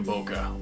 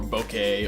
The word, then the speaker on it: bokeh: bokeh because I know some people are just like bokeh I went to bokeh or bouquet or however the crap you want to pronounce it I pronounce the bokeh sometimes I slip up and I say bouquet either way you're fine don't don't worry about that hey don't sweat it